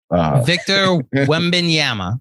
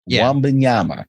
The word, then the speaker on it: Wembanyama: I can't even pronounce his name. Victor Wembanyama. I think I got it right. Victor Wembanyama. Wembanyama.